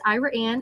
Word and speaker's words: Ira Anne: Um yes, Ira Anne is a small but thriving little community. Um the pronunciation is kind of unique. It was named after a married couple, Ira and Anne Yates.